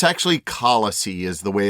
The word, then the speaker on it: Kalasi: um unlike our American style pronunciation the correct pronunciation is actually kisey sellers uh it's from the thelu language in